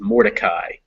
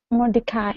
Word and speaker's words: Mordecai: Remember that name with the M is Mordecai. I is how it ends. Mordecai.